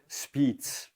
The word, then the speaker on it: Spiez: WHO uh inputs or speez I believe pronounce it correctly as the Swiss say near Lake Thun gain of function research is being conducted um you found that out.